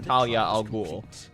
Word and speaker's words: Talia al Ghul: No, Talia's name is pronounced Talia al Ghul, but her father is pronounced Ra's al Ghul.